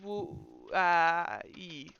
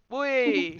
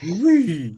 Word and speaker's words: Wui: Wui. Wee. Wui. I think it says somewhere how to pronounce his name. Yeah. Pronounced like The sharp. elemental- It's like pronounced like sharply expelling a breath of air.